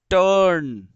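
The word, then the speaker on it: turn: एच यू आर T, hurt, T यू आर एन, टर्न, एन यू आर एस E, nurse, nurse. देखो मैंने जितने भी बोले हैं अभी प्रोनाउंस किए हैं, तुम्हें उसमें कहीं भी र नहीं सुनाई दिया होगा, ना मानो तो थोड़ा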